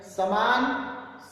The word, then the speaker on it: समान: आप आठवें बॉक्स में देखेंगे तीन शब्द दिए हुए हैं समान, सामान, सम्मान। समान, सामान, सम्मान। उच्चारण पर ध्यान देंगे आप, थोड़ा बहुत डिफरेंट है।